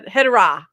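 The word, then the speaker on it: Hedorah: Her hedra, not hedo.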